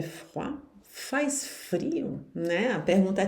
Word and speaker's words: froid: Il fait froid. Aqui o T do fait não se pronuncia, o D do froid não se pronuncia.